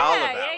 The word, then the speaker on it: Dallavalle: Yeah, Dallavalle.